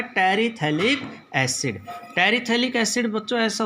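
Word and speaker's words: terephthalic: यहाँ पर ये पी साइलेंट है, टेरिथैलिक बोला जाता है ये, THALIC, टेरिथैलिक एसिड।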